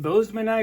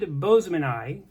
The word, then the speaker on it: boesemani: scientific pronunciation would be Boseman ey as in Mr Boseman had a good eye for finding new species of fish Boseman ey anyway that's how people